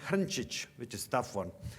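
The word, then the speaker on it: Hrnčić: It's originally in Croatian pronounced Hrncic, which is a tough one, I guess.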